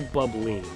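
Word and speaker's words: Bubbline: The spelling on this website makes it look like the weapon is pronounced bubble line when it's really the bubbling.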